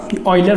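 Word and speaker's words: Euler: अब अगर यूलर form कोई पूछता, ऑयलर फॉर्म सही प्रोनाउंसिएशन है इसका, r e⁻⁴ होता है।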